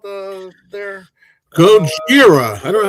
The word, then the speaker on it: Gojira: There, Gojira. I don't know how to say it. Gojira, yeah. Gojira, that's how you say it.